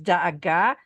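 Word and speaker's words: דאגה: The word for worry in Hebrew is da'aga, and it is spelled like this: Dalet Aleph Gimel Hey.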